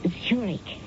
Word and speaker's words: Zurich: a chair mrs zurich that's pronounced zurich it's in the swiss city oh i see uh are you swiss no zurich was the name of